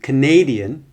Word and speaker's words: Canadian: o in photograph also when the stress changes in the word like Canada to Canadian then the position of the schah can also change for example like I